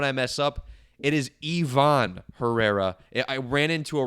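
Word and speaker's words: Iván: Too many times I've seen Ivan said Ivan. It's Ivon.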